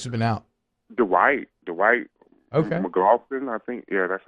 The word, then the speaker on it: McLaughlin: McLaughlin, I think. Yeah, that's how you pronounce his last name.